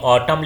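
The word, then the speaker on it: autumn: भी हो गया और ये ऑटम लिखा है इसमें यन क्या है साइलेंट है इसके बाद एन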